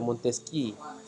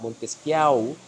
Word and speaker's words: Montesquieu: Jadi kalau saudara-saudara sekalian baca itu jangan baca Montesquieu. Orang Jerman dia. Jadi cara bacanya adalah Montesquieu mengutarakan teorias politika tentang kekuasaan negara.